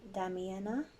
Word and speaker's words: Damiana: so number 11 the Beloved I'll try and pronounce this right damn Damiana Damiana d-a-m-i-a-n-a Damiana I'll say it like that